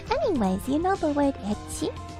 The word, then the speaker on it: ecchi: Anyways, you know the word ecchi? Ecchi, like E-C-C-H-I. That is actually a Japanese pronunciation of the letter H.